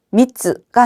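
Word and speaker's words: 三つ: 이때도 여러분 초금은 한 박자를 쳐 줘야 돼요, 안 쳐 줘야 돼요? 쳐 줘야 되겠죠. 따라서 미즈가 아니라 미즈. 미즈.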